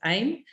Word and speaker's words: AIM: so he has a business called aim or pronounce aim which is automatic millionaire automatic Internet Millionaire so